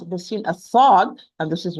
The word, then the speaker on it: ص: example, if you are going to lighten the sad, you are going to pronounce a sin. If you are going to pronounce the sin as a heavy sound, you are going to pronounce it as sad.